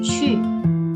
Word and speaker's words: 去: Kalau kita lihat ki ini tulisannya ki sama u. Ini bacanya bagaimana? Bacanya seperti kita ngomong CHI. Tapi mulut kita manyun. Jadi 去 pastikan ada anginnya. Itu pelafalan yang tepat. 去 gitu. Oke?